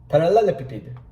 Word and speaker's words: parallelepiped: Parallelepiped, yeah, that's how you say it, all right?